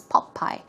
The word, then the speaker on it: Popeye: even British English it's Popeye it's more of a pop pop pop sound so it's pop by